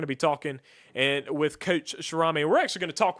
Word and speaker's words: Cheramie: It's Cheramie. It's Cheramie. Okay. Caden Yeah, Cheramie. it means beautiful friend in French.